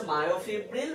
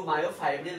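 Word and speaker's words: myofibril: তো পুরোটার নাম হচ্ছে মায়োফিব্রিল বা কেউ মায়োফাইব্রিল বলেও ডাকে, অ্যাকচুয়াল উচ্চারণ হচ্ছে মায়োফিব্রিল।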